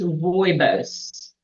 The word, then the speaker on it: rooibos: You will find, Newsflash, you have a pronunciation. It's rooibos.